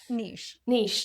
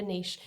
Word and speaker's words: niche: Niche, yeah. That's how we say it in the UK, a niche. And in Australia, I think.